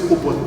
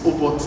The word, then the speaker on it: Obot: So my name is Obot, not robot without an R. It's Obot, and currently I'm a 400 level student of CRS department.